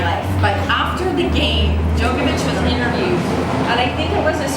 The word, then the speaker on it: Djokovic: After Wimbledon, the winner is this gentleman, and I'm probably going to mispronounce his name, Novak Djokovic.